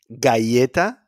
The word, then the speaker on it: galleta: The G sounds like guilty when it's followed by an A, O, or U. Galleta, gol, gol, or me gusta, me gusta. Galleta, gol, gusta.